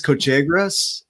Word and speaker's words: Cochegrus: Candice, you're going to have to correct me if I say your name wrong, but it's Candice Cochegrus.